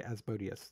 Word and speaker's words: Asmodeus: yep it is the symbol of asmodeus actually azbodius that's how it's pronounced in d i think yeah asmodeus says